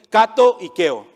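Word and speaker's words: κατοικέω: Esta palabra que está usando él aquí se puede pronunciar así, kato ikeo.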